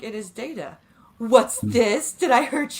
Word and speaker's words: Data: And the way that she, like, and he's like, it is Data.